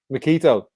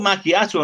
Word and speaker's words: Macchiato: No, if it's called Macchiato, I know you're on about. It was Makito, is what Owen was saying there. Is it Macchiato or Makito? It's macchiato is how it's pronounced.